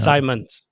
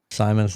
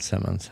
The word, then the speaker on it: Simons: It is Simons. Simons. Simons. Okay. Yeah. Simons, not Simmons.